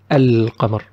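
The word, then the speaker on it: القمر: So if Qa came after Al, we will pronounce Al clearly. We will say Al-Qamar.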